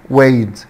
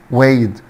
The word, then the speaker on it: weighed: way weighed way weighed، طبعا حبايبي جي اتش هنا سايلنت مش بتنطق.